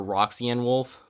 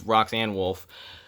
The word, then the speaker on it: Roxanne Wolf: name wrong it's rock i always call her roxy and wolf but it's roxanne wolfe and that plus she's